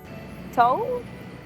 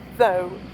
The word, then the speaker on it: though: Toe? Though. So? Though. Okay, so here's the mouth and inside is the tongue. But it's not a good tongue for making a TH sound because it's pointy.